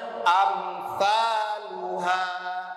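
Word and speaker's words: أمثالها: Di huruf ini tidak dibaca qalqalah ya. Contohnya amsaluha, am tahan, amsaluha, tapi tidak juga disyiddah, artinya ditahan, ditahan kemudian diwaqaf, saluha tidak juga dibaca seperti itu, tetapi dibacanya langsung mengalir satu baris, amsaluha.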